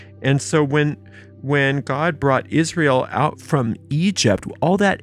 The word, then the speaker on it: Israel: And brought out Israel from among them. Well, who is Israel? Well, you are Israel. Remember, Israel is at 3 syllables, and each syllable means something.